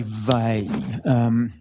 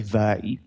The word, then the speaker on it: Weil: So we have our metric, our Weil Petersson metric, and it has various properties, none of which I find obvious, but known to be true. So, properties of the Weil Petersson metric.